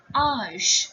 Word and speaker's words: âge: It will be pronounced as âge.